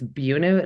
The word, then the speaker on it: Buena: had a gig in Buena Vista Colorado it's it's bunu not Buena for some reason it's I